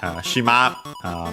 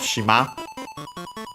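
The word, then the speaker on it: 島: Yeah, shima means island on its own, accent on the last mora.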